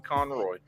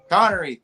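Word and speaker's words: Connery: don't I'm not familiar with this actor Sean Conroy I'm try okay okay now you know you up now I was trying to think Sean Conor connory thank you I keep I've been mispronounce like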